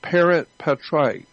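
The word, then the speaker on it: parens patriae: I don't know exactly how to spell it, but it's pronounced parent patriae. It's an actual federal law, parent patriae.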